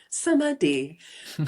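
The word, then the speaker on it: samādhi: and by the notion of what the Thai people pronounce the word samadhi, which is a Sanskrit word. They pronounce it samadhi, samadhi, which is that state of being one with all.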